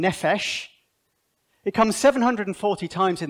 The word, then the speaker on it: nephesh: Okay, that P is a soft sound. It's an F sound, nephesh.